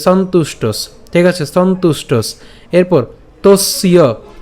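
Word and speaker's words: সন্তুষ্টঃ: এরপর চ সন্তুষ্টস, এখানে একটু খেয়াল করি, চ সন্তুষ্টস, এখানে উচ্চারণ যেটা করছি সন উচ্চারণ করলাম, এবার ত রস্যকারটা উচ্চারণ করছি, তাহলে তু, এবং এই যে মূর্ধন্যস্ব যুক্ত ট উচ্চারণ করে তার সাথে এই যে এখানে যে দন্তস্ব আছে, এই দন্তস্বকে আমরা নিয়ে আসলাম, তাহলে সন্তুষ্টস, ঠিক আছে?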